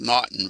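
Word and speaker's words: M'Naghten: says mnon but it's called nton Rule it's pronounced nton Rule and this was uh the one that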